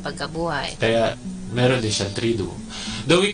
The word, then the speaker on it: Triduum: Sabi nga natin, Triduum, 3 days. It's a strange word to us. To us, as in vacuum, but 3 syllables.